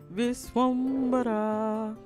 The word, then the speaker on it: Vishwambhara: At the end, they was like, Vishwambhara.